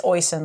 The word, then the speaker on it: Oysen: I'm pretty sure you pronounce the I. I'm thinking it's Oysen, like hoisin sauce. I'm not putting it on the screen, yeah, it's like hoisin sauce. So just take the H off of hoisin, and you got Oysen.